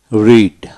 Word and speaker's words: read: তারপর আসেন রিড, READ রিড, রিড পড়া, রেড রেড। যখন past tense past perfect form হবে তখন রিড এর উচ্চারণ রেড রেড উচ্চারিত হবে।